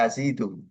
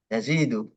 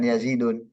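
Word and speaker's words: يزيد: Itu kita bacanya Yazidu. Yazidu, bukan Yazidun.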